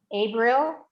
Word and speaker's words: Abril: Greece, C, me, Pinta, privado, Abril, Okay, now I'm going to stop you there. Instead of April, ooh, think for a moment. Instead of April, it'll be A.